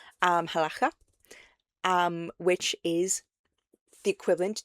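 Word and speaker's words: halakha: One, Jewish people performed halaka, I think is how it's pronounced. Um, halaka.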